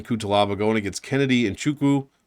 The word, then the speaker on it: Nzechukwu: 7,400 for Ian Cutelaba going against Kennedy and Nzechukwu, or Chukwu, I guess is how you pronounce it. Don't say the N.